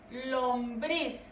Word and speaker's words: lombriz: Lombriz.